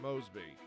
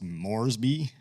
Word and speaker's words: Moresby: Shouldn't it be pronounced Moresby with an R in there?